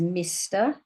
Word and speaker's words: Mr: This is Mr. So MR is short for Mr. Spelled M-I-S-T-E-R.